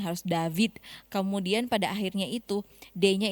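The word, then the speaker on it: דוד: V-nya itu harus Bergetar. pengucapannya itu lebih ditekan. Iya, V. Harus berat ya. Kalau yang ringan kan David, tapi bukan begitu cara bacanya, harus David.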